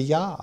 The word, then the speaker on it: Yah: gotta be a well it has to be yah yes not only a why a yeh yes so the